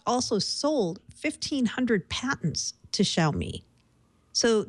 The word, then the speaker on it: Xiaomi: late last night with the Chinese phone maker xiaomi is that how you pronounce that x i AI sh xiaomi xiaomi so um this was really interesting because